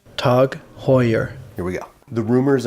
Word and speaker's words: TAG Heuer: swipe at Apple before we start it is pronounced tug Hoyer here we go the rumors are now confirmed